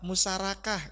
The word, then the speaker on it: musyarakah: ada musyarakah ada mudharabah nanti menyebut bahasa musyarakah musyarakah ya Jangan nanti akadnya apa musyarakah jangan ya ya harus mulai pelafalannya Apalagi kita di level-level pimpinan ya musyarakah coba bareng-bareng ayo jadi kalau ini kan tulisan karena dia ro pasti dibaca Ra bukan ra ya kalau saya tulis ro dia salah tapi dibacanya ro ya musyarakah ya mudharabah ya